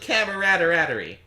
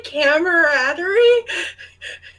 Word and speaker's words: camaraderie: But I felt a sense of camaraderie. Did you just say camaraderie? What? Maybe? Camaraderie? Camaraderie. Come a comedian. Camaraderie. There's an extra syllable in there.